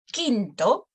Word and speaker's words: Quinto: No, we're going to pronounce both of them as K. Okay, we're not pronouncing it anyhow. We just pronounce both of them as K. Por ejemplo, Quinto or Quiroga. No, they're both places U is not pronounced anyhow.